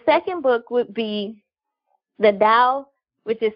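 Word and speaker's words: Tao: book would be the Dow with the spell ta o but it's pronounced Dow if you're being correct but it reads like tau of womanhood the Dow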